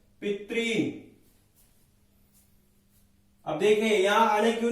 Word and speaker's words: पितॄन्: पिता, पितरौ, पितरः, पितरम, पितरौ, पितॄन्। री दीर्घ है तो हमें थोड़ा यहां पे दीर्घ के हिसाब से बोलना है। पितॄन्, पित्रा, पितृभ्याम, पितृभिः, पित्रे,